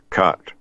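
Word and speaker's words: khat: chewing a narcotic plant called cut it's it's spelled k-h-a-t kilo Hotel Alpha Tango cut very popular in that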